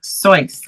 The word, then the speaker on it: Seuss: Seuss, his name is actually pronounced Soy.